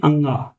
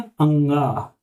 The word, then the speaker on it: ङ: आपने आज एक नई चीज सीखी कि इसको हम बोलते हैं अंगा। क्या बोलते हैं? अंगा।